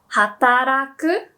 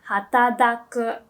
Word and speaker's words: hataraku: Yeah, so or the word to work, hataraku. Some people say it like hatadaku. So it's a D sound, but people do understand it.